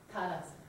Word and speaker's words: Tadasana: Tadasana, it's Tadasana. Ta is the first syllable, right?